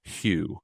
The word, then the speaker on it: Hugh: So Shane, your last name is pronounced like it's spelled Hugh, correct?